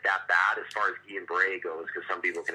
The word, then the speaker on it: Guillain-Barré: Looks like Guillain-Barré for those that are listening, but I think it's pronounced Guillain-Barré. See, I thought it was Gillian.